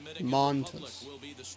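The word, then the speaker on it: Montas: Montes. Okay. Okay. I was pronouncing the A incorrectly.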